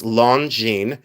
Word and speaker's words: Longines: This is Longines, and it's spelled differently than it's pronounced, but it's Longines.